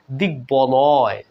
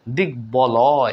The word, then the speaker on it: দিগ্বলয়: দিগ্বলয়, দিগ্বলয়, এখানেও দেখুন ব ফলা উচ্চারিত হলো বন্ধুরা।